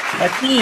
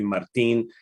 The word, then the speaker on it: Mateen: It's Mateen, right? It's Mateen, yeah. There's no R in it. I live down here in Miami, and everybody calls me Martin, and that's not my name.